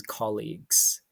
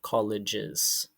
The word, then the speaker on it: colleague: boss so the best fit here is his colleagues and remember it's pronounced colleague not colleges colleagues the purpose of the letter so he